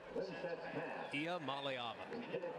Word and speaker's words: Iamaleava: And can you pronounce Nico's name for me again? Nico Iamaleava. Iamaleava.